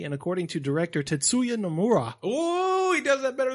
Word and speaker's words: Tetsuya Nomura: Tetsuya Nomura? Tetsuya. Tetsuya Nomura.